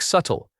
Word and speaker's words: subtle: Same idea. The bit is completely silent. It sounds like subtle.